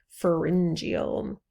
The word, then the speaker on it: pharyngeal: Another trait that we have in common are these pharyngeal arches, and that's how you pronounce this word, pharyngeal.